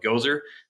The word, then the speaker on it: Goeser: It's spelled like Gozer, Gazer on LinkedIn.